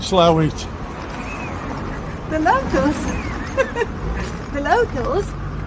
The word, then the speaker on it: Slaithwaite: pronounce it how do we pronounce it michael the locals call it slow it the london the locals